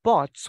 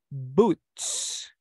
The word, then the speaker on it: boots: same rule applies here when you see double low the pronunciation will change it is not going to be all anymore it's going to be U so we don't say Bots we say boots and the same happens